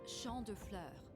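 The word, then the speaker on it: Champs Fleurs: just like I imaged Champs Flor how do you say that it's Shand FL it means fields of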